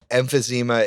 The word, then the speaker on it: emphysema: Emphysema. I've never heard that word in my life. What's that? It's a lung thing. Yeah, it's emphysema. Like it's a lung disease that you get from like smoking. Emphysema is a lung issue.